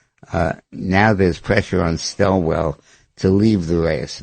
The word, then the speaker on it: Swalwell: It's Swalwell.